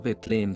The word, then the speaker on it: Betlem: Muchas veces, al querer mencionar a Cristo Jesús, encendido en amor, le dice el niño de Betlem, y, pronunciando Betlem como oveja que bala, su boca se llena de voz, más aún, de tierna afección.